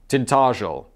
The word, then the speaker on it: Tintagel: I live in the Cornish village of Tintagel, pronounced Tintagel.